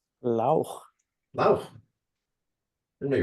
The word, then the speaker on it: Lauch: Lauch, did I pronounce that correctly? Lauch.